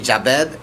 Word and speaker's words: Jabed: When I'm thinking like it's just J A and then Bed, you know, so Yeah. it's pretty Jabed.